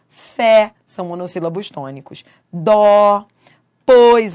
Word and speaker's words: fé: Mês tem timbre fechado, mês. Fé tem timbre aberto, mas ambas são tônicas, porque são fortes.